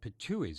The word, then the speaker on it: Pitohuis: They are jay-like birds called Pitohuis. It's spelled P-I-T-O-H-U-I, the plural, adding an S, sounding all the world like a cartoon depiction of someone spitting out something, so the word seems appropriate.